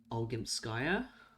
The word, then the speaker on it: Olgimpskaya: Because, like, it really, like, weirded me out in Pathologic 2 when Aglaya arrived and pronounced Victoria's name as Victoria Olgimpskaya.